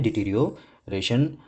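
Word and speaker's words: deterioration: ठीक है, इसकी प्रोनाउंसिएशन है डिटीरियोरेशन, जिसका मतलब होता है the process of becoming verse, बिगड़ना, ह्रास या पतन।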